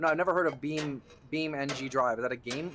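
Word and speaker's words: BeamNG: Oh, it's not beaming. It's Beam NG, or did you misspell it?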